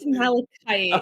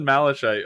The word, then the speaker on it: malachite: It is malachite. Oh. The unintentional diss. I've always said Malachite. I know that word from World of Warcraft. So I used Is that that how I they all pronounce him? Wow. I don't know. That's just how I pronounced it when I read it.